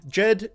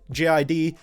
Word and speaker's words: JID: name he said before either way as feigned Jed ji d he doesn't care anyway if you guys want